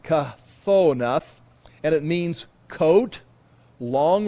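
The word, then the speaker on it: כְּתֹנֶת: And there it's pronounced kathonath, and it means coat, long robe, or tunic.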